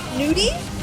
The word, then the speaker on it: Nudie: well and my logo in English you pronounced it as nudie but in Thai I pronounce it as nude so it's like good